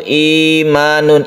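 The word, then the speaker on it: إيمان: Iman dalam bahasa Arab itu imanun, i-nya itu panjang ya.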